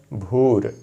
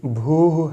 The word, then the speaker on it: भूर: अगला शब्द है भूर। वैसे तो बिना संधि के भूह है, संधि के नियमों से ये भूर हो गया है। यहाँ सरलता के लिए हम भूर का ही उच्चारण करेंगे।